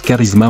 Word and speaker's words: charisma: britannique Oxford University presse c'est l'abbréviation de charisme qui se prononce Charisma en anglais il est utilisé comme